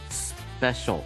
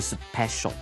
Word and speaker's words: special: Andrea 跟 Gabe 对我来讲也是很特别的朋友，这样的一个意思哈。注意它的发音是 special，而不是 special，那个 P 发简单的 B 的声音。我们来看今天的 Word Power。Word Power.